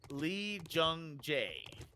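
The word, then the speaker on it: Lee Jung-jae: It's spelled Lee, J-U-N-G, Jung, and then J-A-E. Lee Jung Jae. That's his name.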